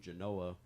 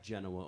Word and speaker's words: Genoa: now I call home Genoa, Illinois, which is like Genoa, only if you say it wrong, it's Genoa.